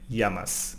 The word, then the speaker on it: llamas: The double L in Spanish sounds like y, llamas, no?